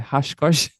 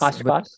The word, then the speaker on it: Oshkosh: But as you say, just attending, I can't even say it properly, hashkosh. Yes. Oshkosh.